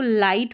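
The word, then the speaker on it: light: तो इसको लाइट पढ़ा है। क्या पढ़ा? लाइट। तो जी एच का उच्चारण नहीं हो रहा है। ये साइलेंट है।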